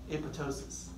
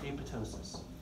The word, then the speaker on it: apoptosis: It goes into apoptosis. Spelled apoptosis, although the second P is silent.